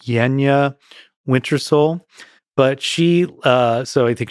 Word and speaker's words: Yanjaa Wintersoul: Her name, I think, is pronounced Yenya Wintersole.